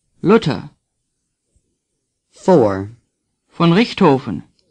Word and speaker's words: Luther: Luther say Martin Luther th is pronounced like T the U is short as in Dortmund lota say luta for von Richtofen say